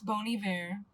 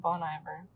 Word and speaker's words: Bon Iver: being an um it's Bon Iver it's like a French word phrase I don't know but that's how you pronounce it correctly but I said bone I ever liked more on um